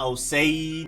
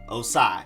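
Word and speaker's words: Ossai: you have edge joseph osai na osei na osai or anything else joseph osai then next up you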